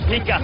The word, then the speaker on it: Pita: His pronunciation of his name is actually Pika in Samoan, but everybody here calls him Pita, so it's Pika Pass.